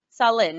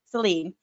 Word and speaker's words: Celine: of the first britons is it saw saline right wrong celine okay i just was